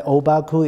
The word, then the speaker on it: Obaku: what we mean by obaku is a Japanese pronunciation of the Chinese term called huangpo and this